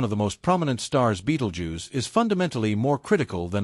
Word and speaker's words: Betelgeuse: than a billion Suns Beetle Jew often pronounced Beetle Juice is a red giant